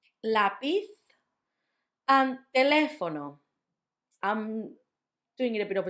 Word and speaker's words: lápiz: The second one, lápiz, lápiz. So a lot of my students start saying lápiz. Obviously, we're going to talk about the phonics of the letter Z and how it's like sound and not s, although it can also be s, coming soon. So lápiz and not lápiz.